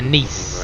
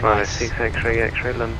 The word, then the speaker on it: Nice: Yeah, Nice, in the south of France, I think. It's spelled like nice. Voiceover pronounced it as nice.